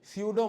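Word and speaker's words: pseudo: और हो नहीं है सूडो माने फॉल्स पी साइलेंट है लैटिन टर्म अगेन सूडो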